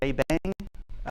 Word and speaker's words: JBang: Um uh says from there came which is a bad spelling of how the shebang is pronounced in French. So, but I have listened to him speak and he does pronounce it J Bang.